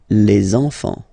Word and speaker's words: les enfants: And now we can focus on the liaison here. So you should make the little link. Les enfants. Les enfants.